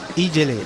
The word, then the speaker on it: Ijele: Ijele. Allez, mon nago il est un peu rouillé, mais ça s'écrit I-J-E-L-E.